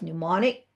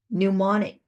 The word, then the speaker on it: mnemonic: a whole set of mnemonic. Okay. M is silent. Mnemonic. Some people pronounce the M, but anyways, here it's mnemonic. The M is silent.